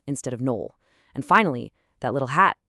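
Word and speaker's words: Noël: Those 2 dots, the schéma, that's just a signal to say 2 vowels separately. It's why we say Noel instead of Noel.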